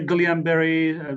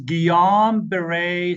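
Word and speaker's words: Guillain-Barré: gon ber gon ber the way we say it some people say Gan ber but the the way you pronounce it is gam beray syndrome gon Beret syndrome okay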